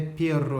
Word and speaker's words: perro: Le R se prononce, donc vous l'avez vu, R, avec pero avec un R, ça veut dire mais, perro avec deux R, ça veut dire chien. Et c'est vraiment R, c'est la langue qui fait ça, d'accord?